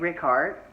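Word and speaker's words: Rikaart: new boy played by Greg Rick Hart that's how they you say anything released that's how they pronounce it at the Daytime Emmy so I'm going with it who he doesn't know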